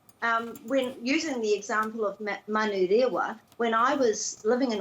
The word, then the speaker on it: Manurewa: the vowels and to put a break after every vowel, so that a place name such as Manu Rewa is Manu Rewa, and it isn't Manurewa.